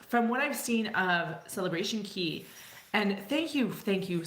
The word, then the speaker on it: Celebration Key: it should be pronounced you kind of can't rhyme day with key so anyway um thank you Carnival for actually calling it celebration key ke y so there's